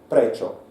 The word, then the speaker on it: prečo: For example, I will speak loudly Slovak word prečo. Okay, it means why. Prečo. But if you are linguist, you can divide this word on 2 syllables. Pre-čo.